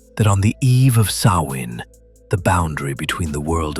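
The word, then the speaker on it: Samhain: The earliest origins of Halloween can be traced to the Celtic festival of Sawin, pronounced Sawin, celebrated in Ireland, Scotland, and parts of Northern Europe.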